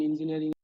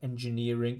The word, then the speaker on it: engineering: And good pronunciation of engineering just a bit strange on the J. So it sounds a bit more like a Z. Engineering. Engineering should be a J sound.